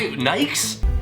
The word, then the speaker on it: Nike: It is pronounced in 2 syllables, rhyming instead with words like crikey.